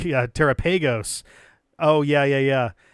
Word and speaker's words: Terapagos: But if it's like Terapagos or something, it's like, no. You get singular emphasis on either the te or preferably the ra. The final two syllables, secondary emphasis at best.